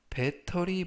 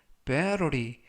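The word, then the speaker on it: battery: 라고 발음 하시면 되겠구요 이때 중간부분에 있는 알파 베티는 부드럽게 트가 아니라 를 그래서 배터리 보다는 베로 리 라고 발음 하시면 좋겠습니다 품사는 명사 뜻은 배터리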